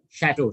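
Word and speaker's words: château: that's the word it's the word is pronounced as shadow shadow is also a popular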